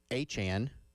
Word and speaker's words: Etienne: Yeah, Travis Etienne actually Etienne.